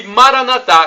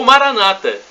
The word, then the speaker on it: Maranata: E Maranatá, como dizemos nós católicos, ou Maranata, pronúncia com acentuação na penúltima sílaba, como dizem nossos irmãos separados, os protestantes ou evangélicos.